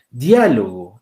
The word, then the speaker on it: diálogo: Diálogo. En este caso, diálogo sí concentra la mayor fuerza de voz aquí.